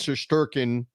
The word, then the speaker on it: Shesterkin: And Trouba, the officials did not put that goal past Shesterkin.